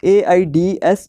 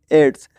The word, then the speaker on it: AIDS: जैसे एड्स है, एड्स को हम AIDS तो नहीं पढ़ते ना, इसको हम एज अ वर्ड पढ़ते हैं एड्स।